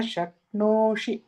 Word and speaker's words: शक्नोषि: न शक्नोषि, like there's no dirgha for e.